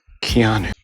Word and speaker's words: Keanu: Keanu. And I am a stickler for pronunciations.